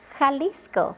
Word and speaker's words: Jalisco: Jalisco. Or when you're laughing, ha ha ha. That J sounds comes from the throat, similar to an H.